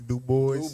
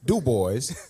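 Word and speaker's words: Du Bois: DUIs said the Bole he said he prefer do boys do boys okay cuz I I don't know if he do boys you know that's damn that's with them Greek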